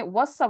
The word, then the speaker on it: وَصَّى: This is how you say, like, he's trying to say wassa with a shadda.